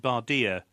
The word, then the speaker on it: Bardia: now that we've captured Bardia?" The anglicised pronunciation made it rhyme, of course, but it